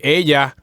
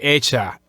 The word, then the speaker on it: ella: But Hispanics in United States, Hispanics born and raised in the United States would say ella, or Argentinians, Paraguayans would say ella. So basically, every time you see a double L followed by a vowel, it's gonna be pronounced